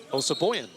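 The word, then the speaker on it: Osabuohien: Well, how do you pronounce that again? Osaboyan.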